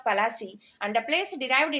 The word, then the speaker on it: Palasi: Plassey is an anglicized pronunciation of Palasi, and the place derived